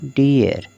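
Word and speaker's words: dear: अर तो हो जाएगा डी अर क्या हो गया डीयर इसी तरह से हियर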